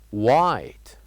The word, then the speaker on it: white: so repeat after me white white excellent so by saying this word white what do you think the silent letter is it is of course the letter H white now let us